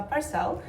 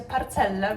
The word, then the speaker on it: Parcelle: Idziemy do słodkiego, małolutkiego miejsca, które się nazywa Parcel. Czyta się Parcelle, więc mieliśmy dzisiaj z tego ze Stasiem Beckę.